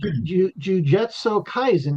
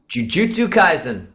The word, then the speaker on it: Jujutsu Kaisen: Jujetso Kaizen. Did I pronounce that right? Jujutsu Kaizen.